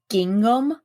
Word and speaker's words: gingham: Listen, we have a scent at Bath and Body Works called Gingham Style? or something, or Gingham or something. I don't know. I can't pronounce it.